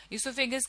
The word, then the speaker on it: oesophagus: ठीक है, ईसोफेगस के स्पेलिंग में कुछ वेरिएशन है, कई जगहों पर ये ओ से लिखा जाता है, इसमें ओ साइलेंट होता है, लेकिन इसे ई से प्रोनाउंस किया जाता है, और कई जगहों